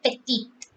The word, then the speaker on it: petite: important note we have when there is an e after the last consonant in a word the consonant is pronounced like ethiopium we say etudio if it is and if you have e there we say petite then we have done